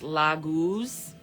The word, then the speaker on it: Laguz: It's pronounced Laguz.